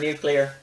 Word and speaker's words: nuclear: i ask your forgiveness some people pronounce the word nuclear by saying nuclear it's not nuclear it's nuclear an easy way to remember how to say it is that if you can say new and clear like it's a nuclear